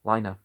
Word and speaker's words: legne: They were armed with spears having broad blue-green iron heads, called legne, pronounced lina.